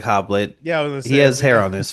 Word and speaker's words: Hoblit: Fallen uh from 1988 directed by Gregory hoblet I believe is how you pronounce the name uh I think 98